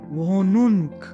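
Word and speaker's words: Wohnung: For example वोनुन्क, वो नुन, और जब भी एच हा जो आपका बीच में है वो हम नहीं प्रोनाउंस करते।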